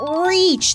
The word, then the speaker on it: reach: to Rich it Kiki you mean reach not rich those are two different words oh that's right looks